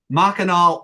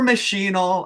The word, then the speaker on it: Machinal: stuff I'm always like mck andol or machinal however you want to pronounce it uh because the author had one way you would say she's she's right right she's the author but uh you know when when you try to pronounce it the author's way you're often pushing back